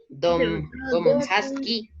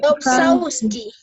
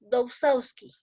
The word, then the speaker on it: Dobzhansky: ¿Cómo se pronunciará? A ver, dígame. Teodorus Dombrowski. Teodosius Dobzhansky. Teodosius Sausawski. A ver, las señoritas, ¿cómo se pronuncia? Ya, a ver. Teodosius Dobzhansky. Ya, muy bien.